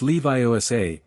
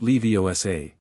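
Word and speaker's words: Leviosa: It's Levi OSA, not Leosa. Make that gar nice and long.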